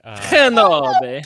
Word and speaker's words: Kenobi: Can you pronounce it? Let's see. Hold on. Let me give it a shot here. Kenobi.